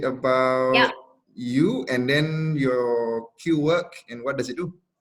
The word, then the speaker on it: Qwork: It's pronounced Qwork, not Qwork. Qwork, yeah, like the English word Quirk, like quirky.